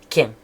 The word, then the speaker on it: chien: En Normandie, on prononce quin.